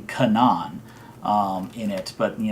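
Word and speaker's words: Canaan: n a a n um the characters uh pronounce the character's name Kanan um in it but you know that could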